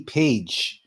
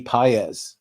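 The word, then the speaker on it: Pages: in Los Angeles is is not Andy pige it's it's Andy pz so just so you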